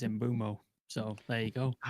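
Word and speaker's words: Mbeumo: a video they're like, "Oh wait, it's imbumo." And they've been saying it immuo for such a long time. But someone corrected me like two months ago and yeah uh K Carl Ananka friend of the channel and stuff he corrected me on it saying it's Zimbumo.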